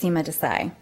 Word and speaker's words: Seema Desai: street minneapolis 55407 and you did pronounce my name correctly it's seema desai and i am here